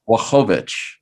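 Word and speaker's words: Błachowicz: So the L you don't actually pronounce as an L, you pronounce it as a W, and it's Blachowicz.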